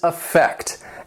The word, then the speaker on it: affect: Another great word is affect. And affect has 2 syllables, and the stress is on that second syllable.